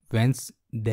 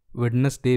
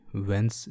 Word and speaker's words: Wednesday: तो वैसे आवाज आएगी आखिरी में में ए वेनसडे यह तो यह तो था सही उच्चारण वेंस्डे का हलवा कि आप बोल चाल की भाषा में वेडनेसडे भी बोलेंगे तो चलेगा नौकरी माइंस यहां पर